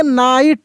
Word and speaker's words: knight: देखिए NI, नाई, T, ट, GH का उच्चारण ही नहीं होता है, GH साइलेंट रहता है।